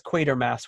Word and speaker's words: Quatermass: So I asked him about the pronunciation, and he says Quatermass would be correct.